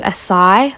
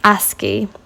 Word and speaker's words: ASCII: you can type into Google, basically it's called ASCII, and there's all different types of, I'll show you quickly here. So if you type into, it's spelled ASCII, and ASCII, I actually always thought it was ASCII, but I don't know why I thought that.